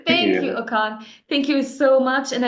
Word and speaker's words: Okon: your last name is it I yeah I mispronouncing right your first name thank you okan thank you so much and I look forward